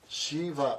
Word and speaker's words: Shiva: is this Shiva shiv Shiva Shiva two syllables means auspicious Shiva but D criticize him